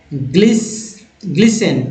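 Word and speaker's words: glisten: नहीं, याद रखिए टी जो है साइलेंट है, ठीक है, इसलिए ग्लिस्टन नहीं लिखा है मैंने।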